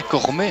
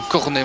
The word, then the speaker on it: Cormet: On dit bien Cormet, hein. Ce n'est pas comme un cornet.